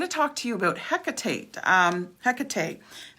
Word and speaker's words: Hecate: talk to you about hecate um hecate so there's many different pronunciations of her name but hecate is probably the more popular one because on the second